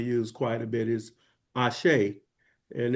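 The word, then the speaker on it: Àṣẹ: Also, I want to, just another term that we use quite a bit is Ashe. And it's spelled A-S-E, but it is pronounced A-S-H-A-Y, Ashe, which means you are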